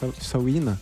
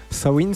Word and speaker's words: Samhain: Enfin, le nom exact c'était Sawin. Sawin, c'est ça. Sawin. Voilà, c'est ça. Ça s'écrit Samin, S-A-M-H-I-N, mais ça se prononce Sawin.